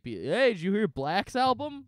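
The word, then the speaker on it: 6lack: That's, his name is Black. It's pronounced Black. I was, nope, it's six lakh. No, it's not. Six lakh.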